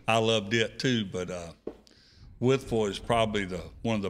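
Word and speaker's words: Wytheville: I had to learn how to say it because I called it Whiteville. Whiteville. But it's Withful.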